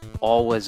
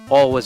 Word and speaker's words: Alwa: all of us awakening the V sound in there but I'm just going to pronounce it like like an American and not like a Swede all was awakening for my latest